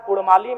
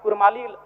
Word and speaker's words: कुड़माली: है उनकी परंपरा है ठीक उसी प्रकार कुड़माली में अभी कुरमाली र उच्चारण होता है वर्तनी में जबकि वह मूल रूप से परंपराओं की मान्यताओं की बात करें तो अड़ होना चाहिए और अंग्रेजी दस्तावेज में